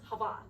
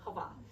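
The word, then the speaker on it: חוה: It's Hava. So it's like Eva but with an H at the front. And we don't pronounce the H. So Hava.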